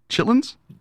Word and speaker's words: chitterlings: Chitlins? Chitlins. Yeah, I think that's chitlins. Do they spell it chitterlings? Yes, they do.